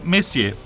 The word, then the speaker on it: Messier: Beh, la M sta per Messier. Mi raccomando, la pronuncia francese.